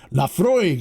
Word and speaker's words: Laphroaig: People get so bent out of shape on how I pronounce it's is it Laphroaig? Laphroaig.